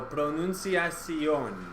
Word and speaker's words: pronunciación: Notice the accent mark on the O on the end. So pronunciación. Accents on the O, okay? Pronunciación. Rather than pronunciación or pronunciación or something like that.